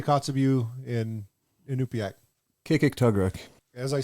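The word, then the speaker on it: Kikiktaġruk: Kikik-Tugruk.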